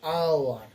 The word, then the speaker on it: hour: an honest man, an hour, so HOUR, HOUR। দেখো আমরা হাওয়ার বলি না, তাই না, বলি না, তাহলে এই এসটা কি সাইলেন্ট থাকে।